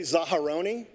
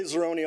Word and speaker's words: Zaharoni: us the right pronunciation it's technically zaharoni but I say Zeroni all the time too just because it's easier so this is a